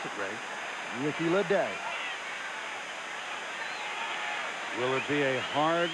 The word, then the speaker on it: Ricky Ledee: And you get to pronounce it, Ray. Ricky Ledee.